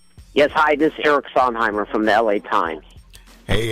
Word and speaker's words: Sondheimer: but maybe you can assist us on the pronunciation of your last name please sir yes it's Simer Simer okay fantastic well sir again thank you